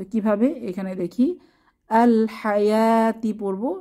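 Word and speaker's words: ٱلْحَيَوٰةِ: তো কিভাবে এখানে দেখি আল হায়াতি পড়বো মাঝে যে ওয়াও এটা উচ্চারণে আসবে না নো সাইন নো সাউন্ড আসসালাতা আরহামি উলাইকা ওয়ালাবান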